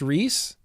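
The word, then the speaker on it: Rhys: black current passion Rees oh RH Ys is pronounced Reese is it really really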